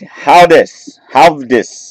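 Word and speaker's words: Höwedes: For Benedict Havdis. I'm horrible at saying his name. I know he's one of the German backs. I think that W is supposed to be pronounced like a V.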